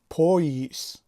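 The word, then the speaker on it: пояс: هیجای اول پا که در بالایش زده افتاده است و بلندتر تلفظ میشود و هیجای دوم یس. اما تلفظ این کلمه چی میشود؟ پاییس. یعنی حرف ی به چی تبدیل شده است در تلفظ؟ به ی. پاییس. پایس می نویسیم، پاییس تلفظ میکنیم.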